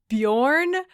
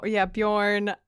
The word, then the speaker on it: Beorn: When I was reading it, I was saying it in my head like Bjorn. It's a very Scandinavian vibe. And the audiobook pronounces it Bjorn, which I think is